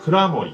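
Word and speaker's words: 蔵守: お酒の名前としては蔵を守ると書いて蔵守と読みます。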